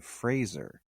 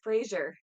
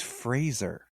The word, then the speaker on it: Fraser: Yeah, why did, when I just saw a thing, he was like, my name is Brendan Fraser, like Razor.